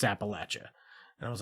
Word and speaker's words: Appalachia: So, I mean, ultimately, when it comes to things like, did you know the Appalachian Mountains? It's not pronounced Appalachia. It's Appalachia. I don't believe you.